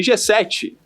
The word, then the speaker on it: Geseth: E G7 tem um jeito peculiar de se escrever, né? G-E-S-E-T-H.